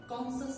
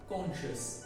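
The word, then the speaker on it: conscious: Social না বরং social, কনসাস না বরং কনশিয়াস।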